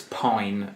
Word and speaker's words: Pijn: See, now when I first saw it, it looked like pigeon. Yes. P-I... I believe that it's Pine. I think that's how it's pronounced, but it's Pijn.